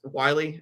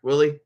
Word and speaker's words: Wiley: I'm going to guess Wiley as the last name. Is that the correct pronunciation? Willie.